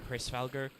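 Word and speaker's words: Hræsvelgr: Also, if you think about it, that's kind of funny because there's also, we've mentioned it before, I think it's pronounced like Hrisvalgr, the giant eagle who sits on top.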